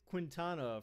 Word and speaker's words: Quintana: We've got next we've got next we've got Jose Quintana from the Chicago White Sox, pitcher. Actually, it's probably pronounced Quintana, right? Not Quintana, it's Quintana since it's Espanol.